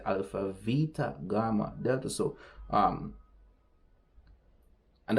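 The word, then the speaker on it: Βήτα: I would say Alpha Beta Gamma Delta in in modern Greek they say Alpha Vita Gamma Delta so um and that's a b and it's pronounced as V in modern Greek those ancient pronunciations are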